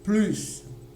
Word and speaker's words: plus: On a un adjectif qui commence avec une consonne. Le S ne va pas avoir de son. Donc, c'est-à-dire c'est un S muet, pour ainsi dire. Donc, on ne va pas l'entendre. On n'entendra pas le S.